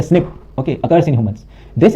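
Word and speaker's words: SNP: single nucleotide पॉलीमोर्फस ज्म pronounced as अ स्निप okay occurs in humans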